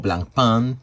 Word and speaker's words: Blancpain: the latest Swatch collaboration, the Blancpain, or Blancpain, if you want to pronounce it in French, 50 Fathoms new collab.